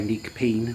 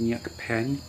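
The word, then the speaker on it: Neak Pean: mention, and that was, I want to say Neak Peen, but it's apparently pronounced Nyuk Pen, and it was beautiful.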